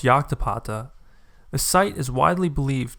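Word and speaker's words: Llactapata: are the runes at lactapata here's the view from the trail i just got here actually pronounced yoktapata the site is widely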